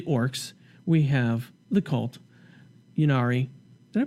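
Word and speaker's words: Ynnari: Yunari. Did I pronounce that right? Yeah. Yunari.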